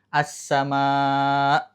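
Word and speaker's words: السماء: Berhentinya tuh tiba-tiba tek karena di situ ada hamzah. As-sama. Bukan as-sama hilang perlahan, bukan. Kalau itu tidak ada hamzahnya.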